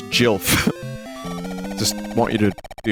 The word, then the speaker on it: Gil: at edge of P Chad it's actually not Gil it's Jil just want you to be aware of that